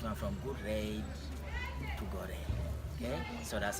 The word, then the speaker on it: Gorée: So they finally decided to modify the English pronunciation, which went from Good Rede to Gorée.